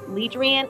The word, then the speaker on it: Leadrian: My name is Leadrian, and it's pronounced Leadrian. It looks like Adrian, but it's Leadrian, and it's Leadriane.